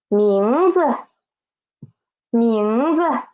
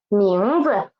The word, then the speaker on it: 名字: 什么 and name is 名字. Z is the neutral tone, don't forget it.